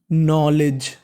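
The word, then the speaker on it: knowledge: rule होता है कि अगर एन से पहले के लिखा है तो के का उच्चारण नहीं करना खाली उच्चारण एन का करना है तो के एओड नो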